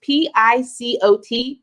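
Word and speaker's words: picot: It's P-I-C-O-T, Pico Stitch.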